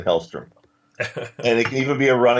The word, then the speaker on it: Hellstrom: MCU's version of Ghostbusters with Damon Hellstrom. And it can even be a running bit that people keep mispronouncing his name. Damien and Hellstorm.